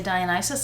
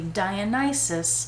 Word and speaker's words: Dionysus: calfskin quilted medium dionysus i looked up how to say dionysus i've been saying it correctly dionysus not dionysus hobo that's the shape of